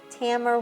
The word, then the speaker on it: Tamer: Tamer rhymes with hammer.